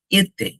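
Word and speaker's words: été: তারপরটা হচ্ছে এতে, এতে।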